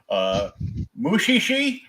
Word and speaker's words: Mushishi: I watched this other one that I will pronounce yet another anime title wrong. Mushishi. Actually, you pronounced that right.